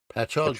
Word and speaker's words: Patchogue: this another New York uh p p Patchogue Pat hog Long Island that's Long Island oh longland okay